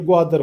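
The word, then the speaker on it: ग्वादर: बलोची नाम है ये गवादर खुद किसका यानी इसको तो स्पेलिंग करना भी नहीं आता ये गवादर बोलते हैं ये यह गवादर पर क्या होता है?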